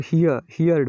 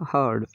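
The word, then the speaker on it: heard: अधिकांश कुछ लोग इसको हियर्ड पढ़ते हैं। इसकी वर्ब की फर्स्ट फॉर्म होती है तो ये हियर्ड, लेकिन यहाँ पर ये सेकंड फॉर्म है सुनना, तो यहाँ इसका उच्चारण होगा हर्ड, हर्ड, हियर्ड नहीं, हर्ड।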